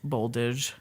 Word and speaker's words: Boldizs: A Z and an S together are pronounced like a Zha sound. Oh. So his last name is Boldizh.